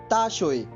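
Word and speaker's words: 大学: इसकी spelling note कर लीजिए, DAXUE, ताशोए। स्पेलिंग एक बार फिर सुन लीजिए, DAXUE।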